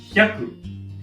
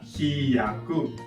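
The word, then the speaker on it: ひゃく: Notice natin na ang pronunciation ay hyaku. Hindi siya hiyaku. Ang spelling niya ay hi, yoon ya, and ku.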